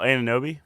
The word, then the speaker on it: Anunoby: I can't pronounce his name, man. The forward. Look it up, Sam. Oh, Anunoby? Anunoby, yeah.